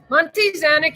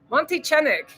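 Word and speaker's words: Monte Xanic: me one or what Monte zanic is great Mexican wine from how do you say it v v gual Monte Chik is pronounced is it really CH I was saying Z Monty chenik yeah look it up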